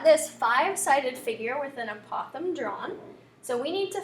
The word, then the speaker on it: apothem: we pronounce that is apothem which sounds kind of like we're saying possum incorrectly but that is how